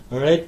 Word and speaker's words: read: Past tense'de read diye okunur. Present hali read şeklindedir.